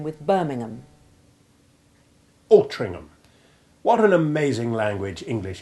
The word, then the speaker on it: Altrincham: The letter H is silent, as in the typical HAM place ending, but the preceding C is pronounced as if it were a G to rhyme with Birmingham. Altrincham.